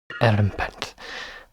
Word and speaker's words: Erumpent: Erumpent. Thanks for the pronunciation, Stephen.